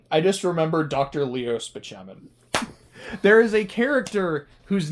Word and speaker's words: Spaceman: Leo Spachman. There is a character whose name is spelled spaceman, but it's pronounced Bachmann, played by Chris Bardell.